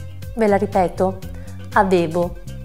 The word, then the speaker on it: avevo: Provate a dire la parola avevo. Allora, se vi sentirete pronunciarla così, avevo, vorrà dire che non state facendo sentire la V. Ve la ripeto, avevo, avevo.